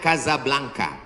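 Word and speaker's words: Casablanca: Hasan 2 di kota Kazablanca. Ibu kota Maroko, tempat saya kuliah. Nama negaranya Maroko, ibu kotanya tulisannya Casa Blanca. Cara bacanya Kazablanka.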